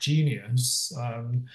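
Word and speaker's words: Jynneos: The vaccine's called, I think it's pronounced Genius.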